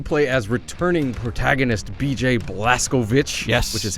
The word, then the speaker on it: Blazkowicz: of course you play as returning protagonist BJ blaskovic which is how they pronounce his last name of the game so